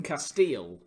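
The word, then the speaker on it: Kasteel: it's an audiovisual medium, is this glass from Castile, which is a Belgian brand. It's spelled K-A-S-T-E-E-L.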